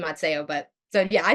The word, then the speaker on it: Mazzeo: I say Mazzeo, but I also it's I answered anything. We also pronounce our last name wrong. It's supposed to be Mazzeo, but so yeah, I say Dr.